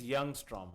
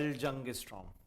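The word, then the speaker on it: Ljungström: Actually, it is Youngstrom, okay? It is not L. Ljungstrom. It's a German name, and Germans pronounce LJU as Y.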